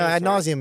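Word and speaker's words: ad nauseam: Adnauseium. No, Adnauseium is correct.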